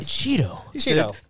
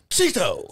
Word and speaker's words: Cheeto: It's Cheeto. Cheeto. Cheeto like the chip.